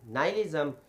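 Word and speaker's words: nihilism: और ये देखें कि इसका जो फलसफा है नालिज्म इसकी मैं स्पेलिंग भी रिपीट कर रहा हूं। एन आई एच आई एल आई एस एम नाइलिज्म जिसकी डेफिनेशन मैंने आपके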